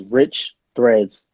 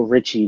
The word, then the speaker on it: Riche Threads: So it's Rich Threads, not no Richie. There's no IE in the brand. Get it right, Rich y'all. Rich is more of a French twist to American Rich.